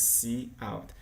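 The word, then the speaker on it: cout: are done okay the identifiers see art we just pronounced see out it's an object in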